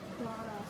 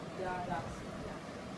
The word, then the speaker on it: Tadasana: But this Tadasana is with D or T? D. Tad. D. Tadasana. D. Yeah. Tadasana.